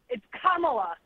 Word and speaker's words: Kamala: I was just calling because it's Kamala. Like you're saying the pronunciation. That's not how she said it to me. Kamala. That's it.